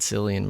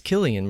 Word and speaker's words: Cillian: his name right so i've always said silly and murphy and i guess it's killian murphy i'm gonna just call